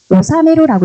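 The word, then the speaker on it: 修める: 기회를 닦다라고 할 때 이거 읽는 거는 오사메루라고 읽으시면 돼요. 오사메루 하면은 닦다, 배우다 이런 뜻이 되고요. 닦다, 뭔가를 배우다. 그런데 오사메루라고 읽을 수 있으셔야 되고 그 다음에 이제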